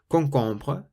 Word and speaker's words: concombre: If you see the letter C in front of an A, an O, or a U, then you pronounce it like a K, so it's a K sound.